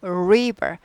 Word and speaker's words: river: 리버 아니고 river. 우리예요. River. River. 우리.